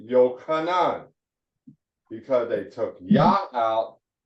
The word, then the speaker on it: Yochanan: The pronunciation of his name is Yochanan.